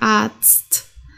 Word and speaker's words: Arzt: so, sondern Zahn, okay, richtig stark Zahn, der Arzt, der Tanz, okay, Zahn, Arzt, Tanz, vielleicht kannst du das auch nochmal üben.